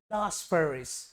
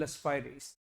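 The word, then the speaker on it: Laspeyres: देखो यहां पर अंग्रेज बैठे हैं, लास्पेरिस। अरे भाई साहब इट्स कॉल्ड लस्पाइरिस, याद रखिएगा।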